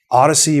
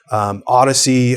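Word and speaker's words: Audeze: Odyssey, which looks like it's spelled Audis, but Odyssey, Hi-Fi Man, Oppo PM 1, 2, and 3 have come out recently.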